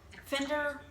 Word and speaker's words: Finderr: adaptive technology so i'm going to start with fender well my phone says spender it's it's spelled f i n d f i f-i-n-d-e-r-r